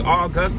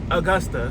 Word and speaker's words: Augusta: words as reference when you like need to pronounce a new word. So obviously it's gonna be Augusta, like August. Duh, right? Oh, negative. But apparently it's Augusta.